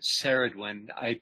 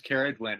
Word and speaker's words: Ceridwen: Hu, and it's interesting, Carrie pronounces Keridwin. I've been pronouncing it Seridwin. I haven't looked it up to see if that's a hard C or not. Carrie, do you have some authority around that Keridwin pronunciation? Good. Yes, I'm Welsh, and most of these names are Welsh. Okay. So it is Keridwin.